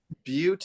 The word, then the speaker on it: Butte: is my home state the correct pronunciation Butte is how they say it or how they